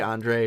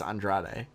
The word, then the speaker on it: Andrade: pronouncing his name because I always want to say Andre but it's Andrade for the cruiserweight championship Cedric Alexander vs.